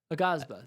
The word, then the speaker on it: Aghasba: Aghasba.